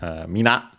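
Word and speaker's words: 皆: Then we have minna from mina. This form with the additional n in the middle is an emphatic form, less formal also, but both are accented on the last syllable, mina, minna.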